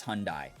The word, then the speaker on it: Hyundai: Listen, that is the acceptable American pronunciation, is Hyundai. Hyundai is if you want to sound like a true Koreaboo.